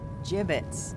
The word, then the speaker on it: gibbets: Gibbets. What? It's pronounced gibbets.